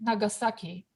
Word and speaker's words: Nagasaki: and syllable for instance the japanese city nagasaki you have four on na ga sa ki in english it is the same for syllables however let's talk about tokyo